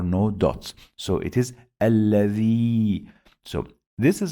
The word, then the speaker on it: الذي: I pronounce this alladhi, long vowel ya.